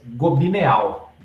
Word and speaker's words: Gobineau: escritor francês chamado Arthur governo em francês cresce gobineau pronúncia governo e esse livro se chamava ensaio sobre